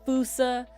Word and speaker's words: fossa: a he's a fossa it's a fousa or or a fousa if you pronounce it that way it's spelled fossa you can say it fousa uh this they they're